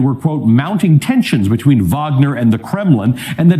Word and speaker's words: Wagner: Maybe they pronounce it Wagner. You see? Wagner. Wagner. Right? But it's with the W, right? It's probably just like a Russian thing where W It's a Russian sound like thing, a B.